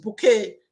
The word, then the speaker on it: Bucket: That lady, Mrs. Bouquet, that surname is spelled as bucket.